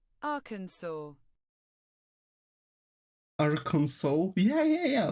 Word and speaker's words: Arkansas: Arkansas. This is exactly how it's pronounced. Arkansas.